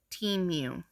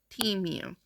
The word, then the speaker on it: Temu: to a customer service representative and it is pronounced team you not to Mu T mu so now that we have that knowledge uh